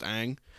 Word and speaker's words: Ng: the marlins their new gm uh kim kim aang i believe is how you say it forgive me if i if i said it wrong it's spelled uh kim and then ng it's pronounced aang at least that's how i've heard the the